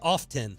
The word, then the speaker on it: often: off yeah you're saying you skip the T yeah you don't say often often often right it's often often